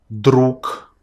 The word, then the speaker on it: друг: So you too from now on should not say these letters in the very endings of words, but you need to change them on their voiceless pairs, their counterparts from column 2.